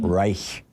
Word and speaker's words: Reich: No, I was pronouncing it like the German word for for empire. Reich.